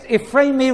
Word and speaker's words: Ephraemi: It's got a rather large title, Codex Ephraemi Rescriptus. There it is. I better spell that.